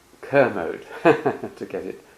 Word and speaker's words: Kermode: Well, it's a great honor and pleasure to have a chance to talk to Sir Frank Kamode who Kerode Kermode to get it pronounced.